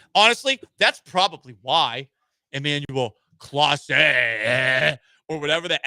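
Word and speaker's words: Clase: It's Emanuel Claus. Say, not CL. Shake my head. Listen, I'm just reading the phonetic pronunciation from Hector Gomez online and honestly if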